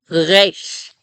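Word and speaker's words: רֵישׁ: So I make it at the back of the throat. It's really, I can feel vibration happening. Resh, resh, not resh, right? Resh, resh. It's almost like you're trying to gargle, right? Like think of trying to gargle. That's how I make the resh sound.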